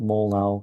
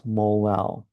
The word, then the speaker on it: molal: So I guess that's how you say it, molal. Kind of sounds funny, but that's um, instead of molar, it's molal.